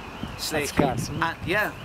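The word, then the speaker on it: Slay Kele: And like the Waterford people would pronounce Slee as Slay. And so Slay Cale. And you'd actually see that in papers that so and so from Slay Cale, S-L-A-Y, K-E-L-E, Slay Cale.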